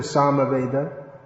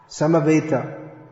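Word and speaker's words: समवेत: Samaveda Bhaktavrinda is nothing to do with the Samaveda. Samaveta. Samaveta. It means assembled.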